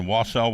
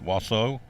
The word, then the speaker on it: Wausau: Hello, Mary Beth Tolley, watching in Wausau, Wisconsin. Wausau? See, how do you say that? W-A-U-S-A-U. Wausau? I guess it's Wausau, Wisconsin.